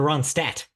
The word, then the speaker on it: Ronstadt: Linda Ronstadt. There's the D is silent. There's also an N in there that I throw in there.